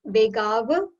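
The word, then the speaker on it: वेगावतार: So again, we have long A's here. It's Vegavatara.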